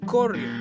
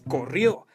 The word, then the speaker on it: corrió: A continuación, un ejemplo de una palabra que termina en vocal. Si a esta palabra no le pusiéramos tilde, diría corrió. La manera correcta es corrió, ya que tiene vocal en la última sílaba.